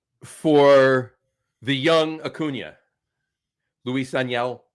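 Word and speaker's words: Luis Ángel: For the young Acuna, Luis Aniel, I believe is how you pronounce his name. Not Luis Angel.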